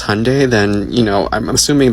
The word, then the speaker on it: Hyundai: Because Hyundai, pronounced like Sunday, not Hyende like you're saying, is a Korean company.